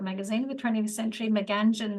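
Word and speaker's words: Meanjin: of Brisbane um uh mein you'll recognize from um you know an important cultural magazine of the 20th century Mangan seems to be emerging as the new um more correct pronunciation um but we are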